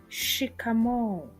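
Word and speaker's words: shikamoo: The next greeting is pronounced as shikamo.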